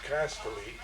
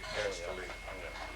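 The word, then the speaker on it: Kastly: K-A-S-T-L-Y, Castelli. And that's like a castle.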